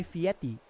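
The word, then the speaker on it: Fieri: Cuz like I don't know if you know the show Diners Drives in What was the Guy Fiery Show or the Guy Fiieti? That's how you actually pronounce his last name.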